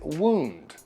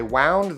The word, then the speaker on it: wound: Now, the past tense of wind is wound, not to be confused with wound. I wound the string around my finger. I wound the string too tight. Now I have a wound. Wound.